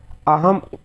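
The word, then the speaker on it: अहं: यह प्रयोग केवल लेखन कार्य में होता है, किंतु उच्चारण काल में अनुस्वार का प्रयोग म के समान ही होता है। तो ये क्या है आपका अनुस्वार है, और उच्चारण में किसके रूप में होता है, म के रूप में। और लिखना है तो हमको इस प्रकार से लिखते हैं, अहम आगच्छामि, अहम आगच्छामि। देखिए यहाँ पे ये क्या लगा, अनुस्वार लगा।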